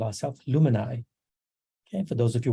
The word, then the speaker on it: Luminai: decided to call ourselves luminai okay for those of you wondering how to pronounce it it's like it rhymes with you and i illuminate we do have some